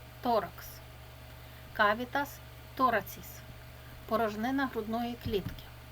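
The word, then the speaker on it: thorax: тул торакс Рудна клітка Т читається як Т торакс остання буква читається к с торакс кавітас тораціс порожнина грудної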